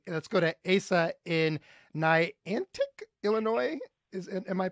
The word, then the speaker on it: Niantic: but thank you let's go to ASA in Niantic Illinois is it am I pronouncing that right yeah awesome yeah that's right